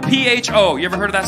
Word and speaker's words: pho: It's spelled P-H-O. You ever heard of that soup? Yeah. Yep. When I went there, first time, I go, can I try your pho? The lady's like, it's not pho, it's pho.